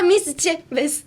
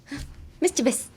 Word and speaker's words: mischievous: Like mischievous. That's how you would say it. It's literally how you would say it. Mischievous.